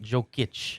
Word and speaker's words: Jokic: having Jamal Murray, Michael Porter Jr., and Nikola Jokic all together, that's nasty Denver team. Say it with me one more time. Yeah, he said- Jokic, yeah. not Jokic. He's the Joker, not Jokic.